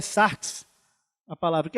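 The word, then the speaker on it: σάρξ: A pronúncia, eu não sei se estou certo, mas é sarx, a palavra, que é outra palavra.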